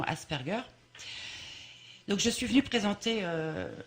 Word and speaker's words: Asperger: Certains le prononcent Asperger, mais c'est vraiment Asperger.